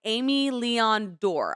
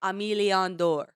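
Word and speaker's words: Aimé Leon Dore: phenomenal sweatsuit it's by amy leon door i i butchered it i think it's it's more pronounced like emiliandor this sweatsuit slaps for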